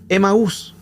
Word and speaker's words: Emaús: Los griegos tenían el control de aquellos lugares, pero los griegos, como no podían pronunciar la palabra Amat, que ese era el nombre original, le cambian el nombre a algo más fácil, que le colocan Emaús.